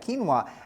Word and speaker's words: quinoa: never heard of quinoa it does not sound it doesn't sound the way that it's spelled Qi n o a kinoa and Hearty multi-grain Breads